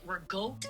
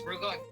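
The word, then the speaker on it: ricotta: You have baby literally at every holiday, and you call it regote and cannoli. No, you said it wrong. It's regote.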